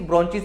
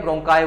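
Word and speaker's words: bronchi: जिनको बोलते हैं ब्रोंकिस, ब्रोंचिस ऐसे बोल देते हैं उसको। तो अगर प्रोनाउंसिएशन गलत होगी तो आप चेक कर लेना, वैसे उसको ब्रोंचाई बोलते हैं, ब्रोंकाई बोलते हैं।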